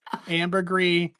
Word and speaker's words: Ambergris: Ambergris. It's not spelled like, but pronounced like the stuff that whales produce that they use to make perfume.